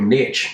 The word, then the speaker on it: niche: And everything should be, because that becomes your niche, or your niche, as Americans say, yeah?